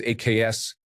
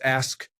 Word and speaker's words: ask: that is completely incorrect when people pronounce ask as AKs it really bothers me it's ask not AKs story 75 people who